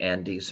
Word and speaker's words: Andes: And you pronounced that perfectly, the Andes Mountains.